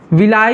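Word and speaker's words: villi: बता दे रहे हैं विली विलाई या विली कई लोग बोलते हैं विली और उसको कई लोग बोलते हैं विलाई इसका स्पेलिंग आप लोग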